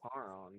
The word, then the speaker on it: Charon: My name is Karen. Is it like like a CHARON? Yes, that is how you spell my name. Karen. I think it's pronounced Charon, but yeah.